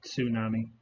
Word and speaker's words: tsunami: They did have T is for tsunami, but that actually does have a T in it. People usually don't pronounce it. It's like tsunami.